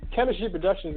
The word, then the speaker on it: K3MISTRY Productions: Chemistry Productions is spelled K3MISTRY Productions. Okay? It's not chemistry like the lab set. It's K3MISTRY Productions.